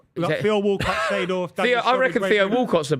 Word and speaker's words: Seedorf: Seedorf.